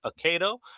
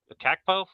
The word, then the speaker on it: Akakpo: You know, we have Jamal Akato. I apologize if I said that incorrectly. Akakpo. I ran it into a pronouncer.